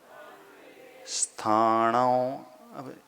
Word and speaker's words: स्थानों: है और थ है तो प्राय लोग उच्चारण जो करते ई पहले बोलते हैं इस स्थानों क्योंकि एकदम से हलंत स का उच्चारण नहीं होता है थोड़ा सा व्यवस्थित तरीके से बोल स्थानों स्थानों ई नहीं बोलना ई साइलेंट कर लेना बोलते भी हो तो